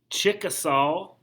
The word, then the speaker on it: Chickasaw: cherokee creeks choctaw c-h-o-c-t-a-w chickasaw it's spelled just like it sounds chick a salt and seminole they were